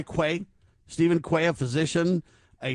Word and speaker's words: Quay: Steven, I think it's key is how you say it. Q A Y Quay.